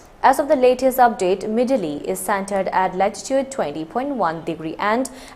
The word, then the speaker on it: Midhili: has intensified into a cyclonic storm named Midhili, pronounced as Midhili, according to the latest national bulletin issued at 5:30 hours IST on 17 November 2023.